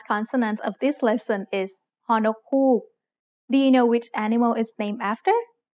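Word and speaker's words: ฮ: Ho nok hook makes a h sound just like the h in hoot.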